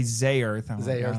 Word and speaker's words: Zearth: But yes, we watched Ultra Man Z because that's how it's actually pronounced. Although in Japanese they say zearth. Okay. But I'm still gonna say zer. That's supposed to rhyme with earth.